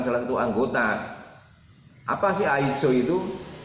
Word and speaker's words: ISO: Apa sih ISO itu? Yang tulisannya ISO, kita bacanya ISO.